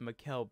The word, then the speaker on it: Mikal: I'm going to fix Mikal Bridges's.